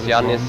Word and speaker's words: Janis: Also, hello Janis or Yanis, I'm not sure which is the correct way to pronounce it, but just don't be angry with me if I did. That is Yanis, yeah.